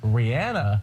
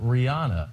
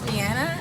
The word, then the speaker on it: Rihanna: She wants everyone to know it's Rihanna, not Rihanna. Hello, British Vogue. It's Rihanna, and I want to welcome you to Paris, where I'm launching Fenty Maison.